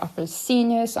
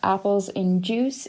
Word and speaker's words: appelsinjuss: I go by Applecenius on Twitter, or Apples in Juice if you prefer to pronounce it like that.